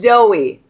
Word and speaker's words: Zoe: No, it's pronounced Zoe, but it's spelled Z O E.